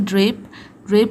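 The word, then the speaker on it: draped: ठीक है, फिर नेक्स्ट है ड्रेप। ड्रेप में देखिए लास्ट का जो साउंड है वो प है।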